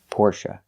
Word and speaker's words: Porsche: The stress is on the first syllable. Pora. Porsche.